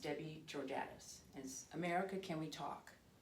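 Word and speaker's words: Georgatos: e o r g a t o s pronounced debbie giordatus as america can we talk and she's a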